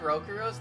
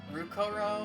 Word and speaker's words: Rokuro: pretty sure she said Rokuro's name wrong. I think she she said Rukoro and not Rokuro.